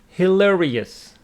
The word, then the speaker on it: hilarious: Hilarious. Hilarious. Let's take a look. Hilarious. Hilarious. With the stress on the second syllable.